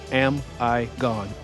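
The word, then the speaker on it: Amigone: Phát âm theo nghĩa đen là Am I Gone?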